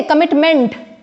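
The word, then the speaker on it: commitment: so what we से कमिटमेंट बट इट्स not meant it's not stressed it's कमिटमेंट meant is not stress मेंट पूरा पूरा नहीं बोल करके उसके शॉर्ट करके बोलना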